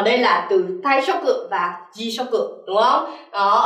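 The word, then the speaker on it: 退職: Vậy thì ở đây từ số 24 mình sẽ đọc là so desu ne, taishoku có nghĩa là nghỉ việc.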